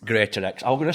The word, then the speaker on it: Greatorex: So, with no further ado, let's get in Greatorex.